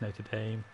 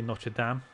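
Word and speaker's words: Notre Dame: yeah um not Dam both acceptable pronunciations about Americans they say Nota like as in like the place not Dame they say not today we say notra Dam um yeah I was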